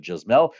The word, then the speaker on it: Jasmel: Jasmel. And it's spelled Yasmel. How do I know that it's not Yasmel but Jasmel? Because, well, I had a wonderful student with the same first name.